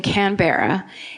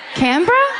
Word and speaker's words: Canberra: Canberra? Okay, just really quick, just a suggestion. How about you spell it C-A-N-B-R-A?